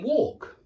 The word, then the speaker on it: walk: talk walk notice that the technical sound is an or or or I write or because I think that that that conjunction or yeah as in and or but one of the Fanboys words yeah that or it's the sound that you're making walk walk walk yeah talk talk talk notice that in the UK talk and talk are homophones now I can't say